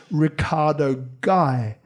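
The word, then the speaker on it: Riccardo Gay: and then i realized it's not gay agency it's just the way i print the way the way i that he pronounced it it's ricardo guy now ricardo guy was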